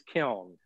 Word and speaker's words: kiln: it's it's very it's kind of hard to pronounce it but it is killed okay I've had students refer to it as